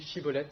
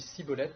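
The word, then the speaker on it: shibboleth: ami ou un ennemi, on lui demande de prononcer le mot chibolette. Et s'il dit chibolette, ça veut dire que c'est un ami. S'il dit cibolette, c'est un ennemi et on le met à mort.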